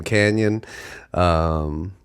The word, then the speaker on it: Kanyun: Happy people get to learn how to say the name Kanyun. I hear a lot of people say it in weird ways, but yes, that is how you say it.